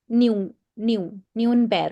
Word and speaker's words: Nürnberg: Okay, That pronounces as Neuenberg. Nürnberg. Okay. Okay, Nürnberg. But is it clear?